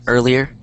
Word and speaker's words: earlier: Earlier. Earlier. Yeah. Earlier. Earlier. Okay. So, try and break it up. That's the best way. As in like eer lee as in l i. And then e r.